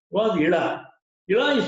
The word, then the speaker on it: Ila: His daughter's name was Ila. Ila is spelled as E-L-A or I-L-A.